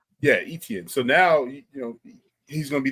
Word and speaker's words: Etienne: Etienne. Yeah, Etienne.